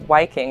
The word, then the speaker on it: Viking: old nor word Viking is actually pronounced wiking with a W it was found on